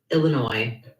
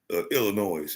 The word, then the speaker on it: Illinois: please brothers and sisters it is not Illinois you're are not from Chicago Illinois you are not from Oakbrook Illinois you are not from the west side in Chicago Illinois it's Illinois okay it's a Native American word Chicago the proper Annunciation is a native American phrase there is the S is silent y'all get some intelligence about